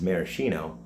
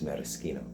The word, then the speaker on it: maraschino: So maraschino is commonly said as maraschino, but the Italian pronunciation is maraschino.